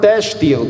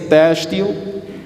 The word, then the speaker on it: têxtil: A palavra têxtil, com acento circunflexo e X, toma o som de S, têxtil.